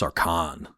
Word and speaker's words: Sarkhan: It's probably pronounced Sarkhan. Put a little stink on that last syllable.